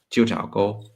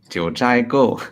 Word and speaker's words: 九寨沟: Jiu Chao Go, Jiu Chai Go. How do you pronounce that? 九寨沟 Jiu Chai, Jiu Chai Go, Jiu Chai.